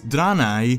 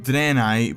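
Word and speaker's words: Draenei: two of them also their name was pronounced a bit differently in Warcraft 3 as danai as opposed to the current danai pronunciation in Warcraft 1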